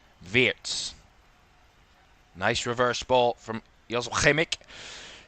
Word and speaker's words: Wirtz: Jan Fulkrug Wirtz, which I've learnt is the right pronunciation. Not Wirtz, Wirtz.